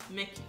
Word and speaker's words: Mickey: Yeah, Mickey. Mickey. Mickey. Não tem o EI no final, é I.